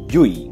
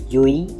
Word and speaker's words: Llull: the NBA namely Serio yui please pronounce a yui not L it's dou l in Spanish is pronounce y Yi good there you go